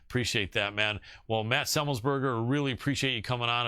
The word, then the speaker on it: Semelsberger: Yeah, Semelsberger. People get caught up they go Semelsberger, and then it sounds weird. So you just say it fast. Semelsberger. Right. Semelsberger.